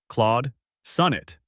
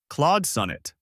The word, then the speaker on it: Claude Sonnet: Keep the vowel in Claude rounded and the first syllable of sonnet strong. If it helps, imagine tapping your finger gently on sun to mark that stress. A few quick tips as you practice. Record yourself and listen for the aw in Claude and the short O in sun.